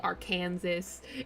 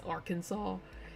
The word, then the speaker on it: Arkansas: specifically can like Arkansas they say our Kansas and they get all huffy about it when it's not our Kansas it's Arkansas I don't know I